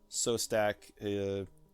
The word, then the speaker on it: Szostak: His name is Phil Sostak. Last name is spelled Szostak.